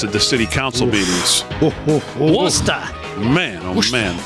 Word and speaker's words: Worcester: that's for sure especially what's going on in Worcester Mass at the City Council meetings wer man oh man it's pronounced wer yeah whatever um so let's get